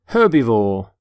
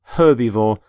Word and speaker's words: herbivore: herb by the way you pronounce the h and the word herbivore for example this stomach